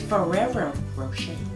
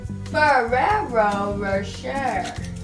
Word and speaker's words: Ferrero Rocher: It's Ferrero Rocher. Ferrero Rocher.